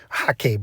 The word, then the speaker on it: Hake: So specifically, you need a Hake brush, Hake brush as it's properly pronounced.